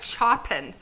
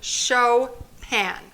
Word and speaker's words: Chopin: name was frederick chopin chopin is spelled like this it looks like choppin but you say show pan so frederick chopin was